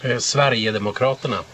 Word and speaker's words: Sverigedemokraterna: Sverigedemokraterna.